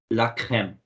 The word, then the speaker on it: crème: The word, Tulika, can you try pronouncing this one? La Mhm. crème. La crème.